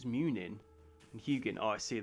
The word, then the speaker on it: Munin: Mugin. It's Munin. And Hugin. Oh, I see. They've just like swapped the second syllable.